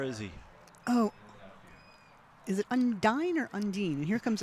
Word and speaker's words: Undine: Now, when I learned to row there, it was Undine. it was Undine. But apparently it is pronounced Undine.